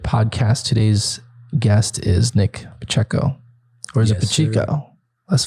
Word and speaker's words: Pacheco: so okay it's like my name is Pacheco say it right and um and Rhode Island there's so many pachico so it became a